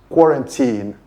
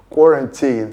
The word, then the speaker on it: quarantine: The pronunciation of that word is quarantine, quarantine. So, the stress is on the first syllable and the last vowel is a long e sound, quarantine, not quarantine or quarantine as people pronounce it.